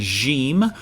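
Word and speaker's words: جيم: a connecting letter that makes the J sound like pleasure or measure not usually a sound We Begin words with in English but this is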